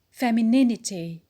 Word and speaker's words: femininity: the next word is feminine feminine when we have either the et it becomes femininity femininity so the stress as usual is the on the antiperspirant the word passive passive